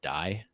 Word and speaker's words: DAI: I think it's just pronounced DAI Die.